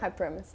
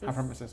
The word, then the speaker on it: hyperemesis: How do you pronounce that? Hyperremis. Hyperremis.